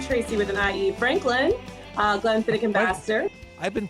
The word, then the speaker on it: Glenfiddich: And I am Tracie with an IE Franklin, Glen-fiddick ambassador. I've been pronouncing this Scotch wrong for my entire 21-plus life.